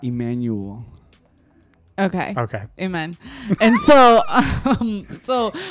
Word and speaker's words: Emmanuel: a couple more times say it like the way like read it in the Bible like not Emmanuel okay okay amen and